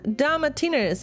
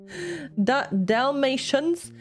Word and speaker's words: Dalmatian: damatinas i don't even is it is this how you say it in damatiners is that how you say it in english for me it's asked here definitely uh who who owned one-on-one dogs a lot of dogs dalmatians dalmatians dalmatians ah okay because in german it's like da matina wait a second let